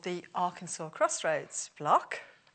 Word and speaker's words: Arkansas: and this is spelt Arkansas, but they call it Arkansas.